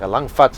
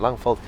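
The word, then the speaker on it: Langvad: We've heard Annika Langvat and Langveld. It's actually Langville. No. That's the latest version of it, but it's very difficult to move beyond them.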